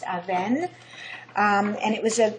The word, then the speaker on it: Aven: A Aven is the river and it's not Avon. It's actually pronounced Aven.